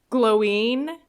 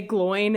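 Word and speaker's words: Glóin: But it's, I think, technically supposed to be pronounced Gloween because there's an accent on the I, and there's been a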